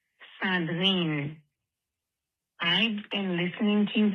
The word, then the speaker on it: Sandrine: Eric and Aisha, this is Sandrine, pronounced in French, Sandrine.